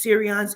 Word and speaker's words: Sirrion: but I kept asking I got the answer Siri on but the way they spell it I spelled it s-e-r-i-o-n they spell it s i i r r i o n okay they have it